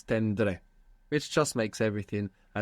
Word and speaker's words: tendré: It would be teneré, but it's tendré, which just makes everything a little bit more efficient.